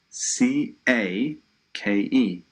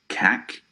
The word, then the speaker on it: cake: as well for example cake c a k e is not pronounced CAC it's pronounced cake this is the longer vowel but sometimes the letter